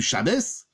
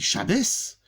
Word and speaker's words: Shabbos: Elle dit, Shabbos, c'est la prononciation du mot Shabbat. En chassid, en yiddish, ça donne Shabbos.